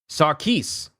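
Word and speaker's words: Sarquiss: Sarkis. Sarkis. Yeah, his name is Sarkis, not Quis.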